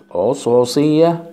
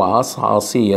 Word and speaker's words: عصعصية: 4 فقرات عصعصية او عصعصية، الاتنين صح، فقرات صغيرة الحجم وملتحمة ايه معا.